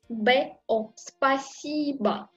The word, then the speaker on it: Спасибо: Спасибо. Et encore, je prononce A à la fin.